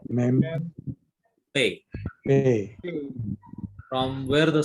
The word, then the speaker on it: Pe: Now, each one of you pronounce this letter. Beth, Beth, Mem, Mem, Pe.